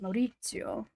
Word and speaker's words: Maurizio: I think it's pronounced Maurizio.